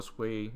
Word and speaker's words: Sui: the uh s con s or sway depending on how you pronounce it uh session so if